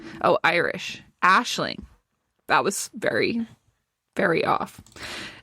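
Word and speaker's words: Aisling: Let me let me Google those like pronounce. Oh, Irish. Ashling.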